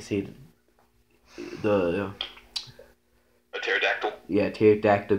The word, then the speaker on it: pterodactyl: Yeah, pterodactyl goes to the bathroom. Because the pee is silent.